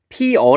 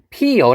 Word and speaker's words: 피어: 해요 피여 라고 해요 원래대로라면 피어 라고 하는게 맞습니다 그런데 우리는 피어 라고 하는것도 하지만 피여 라고도 발음을 해요 그래서 이 두개를 다 인정을 해줘야 피어 적 꽃이 피어 아니면 피어 이렇게 두개 다 가능하다는 거죠 마찬가지로 되어도 마찬가지로 돼어